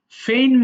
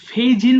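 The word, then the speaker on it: feign: ফেইন মানে ভান করা। ফেইন, এটা জি এর উচ্চারণটা হবে না, কেমন? এই যে বাংলা লিখেছি দেখো, এটা ফেইজিন বলবো না ভুল করে, এটা ফেইন হবে।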